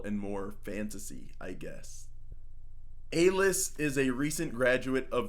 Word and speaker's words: Aelis: I'm going to be pronouncing it Aelis. Aelis, spelled A-E-L-I-S, is a recent graduate of the Lyceum, I want to say is how to pronounce it.